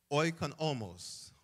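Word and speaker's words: οἰκονόμος: The word is oikonomos.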